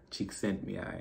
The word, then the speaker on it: Csikszentmihalyi: His name is Mihai Csikszentmihalyi.